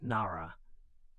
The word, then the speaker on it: Nara: In 710, the Imperial Court established Japan's first permanent capital at Nara, pronounced Nara.